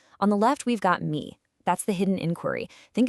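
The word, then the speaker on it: מי: In Hebrew, it's just 2 little letters, me, pronounced me. Simple, right?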